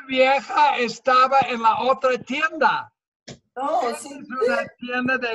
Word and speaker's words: tienda: Tienda. Tienda. Like the word tend. tienda.